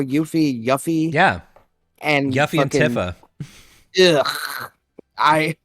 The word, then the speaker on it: Yuffie: it correctly but uh I'm just saying y-u-f-f-i-e that's yuffie that's how you pronounce that well that's a stupid